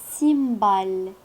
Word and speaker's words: cymbales: des cymbales لا ننطق اس لأنها تمثل السكون. اس لا ننطقها لأنها فقط هنا تمثل علامة الجمع.